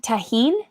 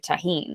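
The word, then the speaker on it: Tajín: Have you had tahine?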